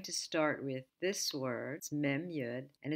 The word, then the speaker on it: מי: confused we're going to start with this words Memu and it's pronounced me me means who and thus begins